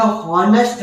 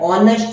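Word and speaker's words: honest: ही इज खाली जगह हॉनेस्ट मैन, ये हॉनेस्ट हम पढ़ते हैं, पर इसका असली में अगर हम जो बोलते हैं उसे कैसे कहा जाता है, ऑनेस्ट मैन। ये एच जो है ये साइलेंट है, इसलिए इसे कैसे पढ़ा जाता है, ऑनेस्ट मैन।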